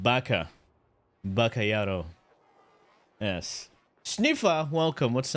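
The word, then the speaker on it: バカ: No, it's pronounced Baka.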